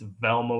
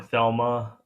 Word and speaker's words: Velma: It's Velma with a V. He called her Thelma, which I believe is a chick from the Flintstones.